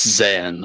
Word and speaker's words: Yzan: GT is that am i pronouncing that right that's San why is silent great I've already made a huge mistake